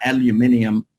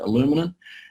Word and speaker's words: aluminium: at what we call an aluminium backyard fence i think you guys pronounce it aluminum and you'll see there